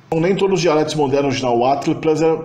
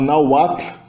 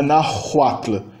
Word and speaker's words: Nahuatl: O H em si é mudo. O H está só aí para indicar que o U que o segue é uma semivogal. É a própria palavra Nahuatl. Muita gente acaba pronunciando errado e pronuncia o H como se o H fosse uma consoante aí. Não é verdade. Não é Nahuatl. Não tem o som de H aí na garganta.